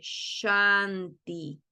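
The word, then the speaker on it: śānti: que entiendan la diferencia la s de shanti que tiene una tilde por sobre su consonante se pronuncia como si estuviera haciendo callar a alguien sh Qué quiere decir esto la lengua no toca ni el paladar de arriba ni el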